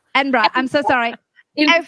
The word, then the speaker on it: Edinburgh: basically last year so i love how americans say edinburgh it's called edinburgh so there's a place called edinburgh i'm sorry sorry edinburgh enbra i'm so sorry you